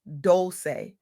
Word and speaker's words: Dolce: I'm Dolce, pronounced doulce.